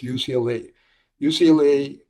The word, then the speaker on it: UCLA: You know, in Spanish you tend to pronounce every letter. So there's a word called "ucla."